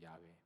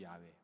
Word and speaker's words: 야훼: 그래서 어떻게 읽는지도 모르는데 최근 들어서 이제 다시 알게 된 것은 그 이름은, 그 발음은 야훼다, 그거잖아요. 야훼, 여호와도 아니고 야훼.